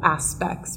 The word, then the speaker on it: aspects: Maybe only one word, aspects, we would place the stress on the first syllable, aspects, rather than aspects.